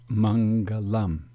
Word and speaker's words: mangalam: particular script and yet this Sanskrit term is transliterated with the first thought as nasalized n and the second is nasalized m as shown here the term is pronounced Mangalam Mangalam the nasalization markers